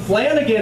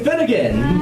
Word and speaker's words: Finnegan: did something hilarious where he mispronounced my last name he's like give it up for flanagan everyone i'm like no no my name's finnegan so anyway so now